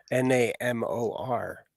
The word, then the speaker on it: Namor: yeah how about how do you say it n-a-m-o-r Namor all right um so this is uh